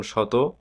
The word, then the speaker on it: শত: তালবস বর্ণের উচ্চারণে কি ধরনের বৈচিত্র দেখা যায়? এর দুই রকম উচ্চারণ হয়। কখনো মূল তালবসর মত যেমন শত আবার কখনো দন্তসয়ের মত যেমন শ্রমিক।